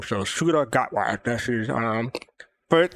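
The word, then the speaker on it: Ncuti Gatwa: to learn I had to learn how to pronounce suda gatw that's how you pronounce the new doctor the current doctor's name so suda gatw that's is um first not his first appearance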